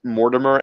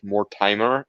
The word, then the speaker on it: Mortimer: so many people who want to pronounce mortimer as more timer and i don't know